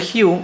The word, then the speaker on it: hue: Ahora, si observamos lo siguiente, acá tengo la opción de tocar lo que se llama Hue, ¿sí? El Hue es básicamente esto.